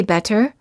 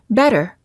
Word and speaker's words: better: When a T is between two vowels, it's generally pronounced like a fast D sound. We don't say better, we say better.